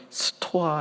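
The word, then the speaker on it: στοά: 이 헬라어로 저렇게 장터 안에 사람들이 모여서 이 토론하는 장소를 스토아, 이렇게 비슷한 발음이 돼요.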